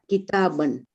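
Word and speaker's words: كتابًا: Note that a noun with tanween in the accusative case takes an alif which is not pronounced. Example, kitabun, kitabin, kitaban.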